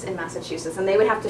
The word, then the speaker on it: Massachusetts: is in Massachusetts so the stress is on the third syllable and there's a little bit of stress on the first syllable so they might do